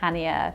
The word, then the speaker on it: Chania: Heathrow Terminal 5 to Hanya it's spelled with a c but you actually pronounce it hania the flight is about